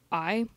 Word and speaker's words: Geguri: She just said a foreign team, and her name is Geguri, or I'm not sure how you say it. It's Geguri.